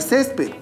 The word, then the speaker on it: césped: Lo mismo sucede con la palabra césped, que tiene 2 sílabas. Y la mayor fuerza de voz se encuentra en la penúltima sílaba.